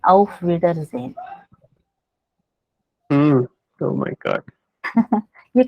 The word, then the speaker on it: Auf Wiedersehen: Yeah, Auf Wiedersehen.